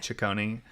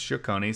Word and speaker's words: Cecconi: I pronounced it wrong. I think I said Cecconi on the on the last episode, but it's Cecconi.